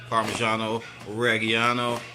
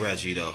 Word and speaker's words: Parmigiano-Reggiano: do you pronounce that everybody parmigiano-reggiano it's not Reggie doe this is not Reggie doe this is a hard